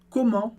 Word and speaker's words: comment: coisinhas importantes para entender, mas uma é a pronúncia desse en, quando ela diz comment. E aqui é importante que esse é um som nasal do francês também, mas diferente do en em demain, que a gente viu antes.